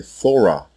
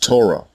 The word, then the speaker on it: Torah: consonant that is why throughout this video you have heard me say thora when referring to the book of masha and not torah as it is pronounced in the masoretic dialect the canaanites also pronounced